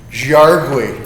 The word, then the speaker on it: Jaurigui: He just gave me the pronunciation. Jaurigui.